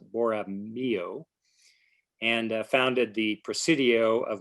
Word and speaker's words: Borromeo: And Father Sierra offered mass, and they laid the beginnings of the mission of San Carlos Borromeo, excuse me, I'm mispronouncing it, Borromeo, and founded the Presidio of Monterey.